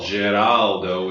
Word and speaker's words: Geraldo: Geraldo would be the Italian pronunciation.